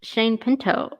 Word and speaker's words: Shane Pinto: Shane Pinto returns.